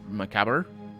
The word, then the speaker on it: macabre: and a cap cover i think it's pronounced macabre as in like theater even though theater can